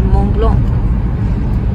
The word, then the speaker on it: Mont Blanc: I seem to have come to Switzerland Hi Mont Blanc (not a boutique Mont Blanc) Actually the correct way to pronounce it is Mont Blanc All right I want to continue to be